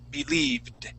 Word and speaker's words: believed: go so yes this ed ending will have a d sound believed believe it there you go believed believe it there good good yes so we're going to skip over that e and not pronounce that final e and just go right to that d okay uh very good